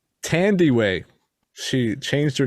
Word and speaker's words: Thandiwe: Hugh Jackman, Rebecca Ferguson, and I actually looked up how to pronounce her name. Thandiwe.